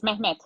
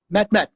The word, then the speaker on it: Mehmet: Yeah, it's Mehmet. Mehmet. Mehmet. Okay. Yeah. I heard it right then. Good. So It Mehmet is well pronounced.